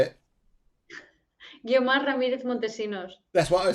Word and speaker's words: Guiomar Ramirez-Montesinos: Yeah, Guiomar Ramirez-Montesinos. Okay. Go on then, you say it. Guiomar Ramirez-Montesinos.